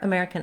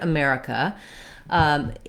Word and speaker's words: America: at the word america this word has second syllable stress so the mare syllable is stressed it should be long and have a clear vowel and the other syllables are unstressed and they have reduced vowels the letters er say the air diphthong in this word that's probably the main